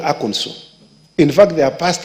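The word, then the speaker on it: Arkansas: went to aono I know people call it AAS it's not called a is called aono in fact they have passed a law on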